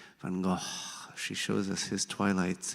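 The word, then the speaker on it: van Gogh: She demonstrates the correct pronunciation of his name, Van Go, in her Israeli accent. Van Go.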